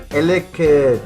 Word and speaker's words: Elekid: And we play cards like two Cyruses and Elekid, that's how you say it, to kind of control their deck around, you know.